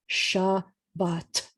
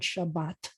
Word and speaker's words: Shabbat: And if we were sounding it out, we would see a sh, like this, sh, with an ah, and a bar on the belly, ball goes in the bar on the bottom base and the goes beyond, and ball in the belly, ba, with an ah, and then attached at the top with a tail at the bottom left is Shabbat. I hope you get excited that you can read the word Shabbat.